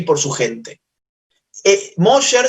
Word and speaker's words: Mosher: Mosher se escribe M-O-S-H-E-R, así como suena Mosher, con S-H.